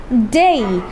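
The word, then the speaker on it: day: বলে কি বলতে হবে ডে না বলে বলতে হবে ডেই কারণ শেষে আমাদের এ রয়েছে তাই না তাহলে ডে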